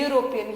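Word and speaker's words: European: एग का pronunciation is ए, अ आ ई में आता है, बट यहाँ ई का प्रोनाउंसिएशन ए नहीं है, यूरोपियन, यू है, यू, और यूरोपियन, और यूरोपियन, हाँ, ओके।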